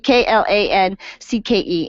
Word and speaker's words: Klancke: So Klancke, Klancke, and Cook, just like it sounds, Klancke and Cook.